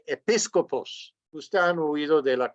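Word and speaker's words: ἐπίσκοπος: blanca con una palabra en griego eso se pronuncia episcopos usted han huido de la conferencia episcopal Pues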